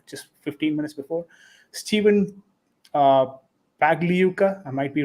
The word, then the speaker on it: Pagliuca: Until he becomes the owner, I'm not going to pronounce his second name. But yes, Steven, who's the owner of It's Pagliuca.